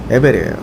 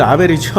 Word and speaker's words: 아벨: 하나는 가인이고 하나는 에벨이에요. 가인과 에벨 아 에벨 아 에벨 가인과 아니가 맞나요? 아니 아벨 아벨이죠.